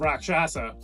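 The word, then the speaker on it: Rakshasa: Six Flags Great America for the wrath of rock shasa oh I said it right you did first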